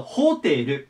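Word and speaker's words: hotel: なんですただ大事なことが 1 つあってこれアとアクセントの位置ですね日本語だとホテルなんですけど英語はここに来てホテルと言いますホテこのアクセントの位置ねセットで覚えておきましょうで次これ読み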